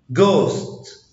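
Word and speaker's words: ghost: حرف الاتش لا ينطق اذا جاء قبله حرف الجي وجاء بعده حرف متحرك. يعني لو جه قبل حرف جي وجه بعده حرف متحرك لا ينطق. جوست جوست لا ينطق اذا جاء قبله حرف الدي.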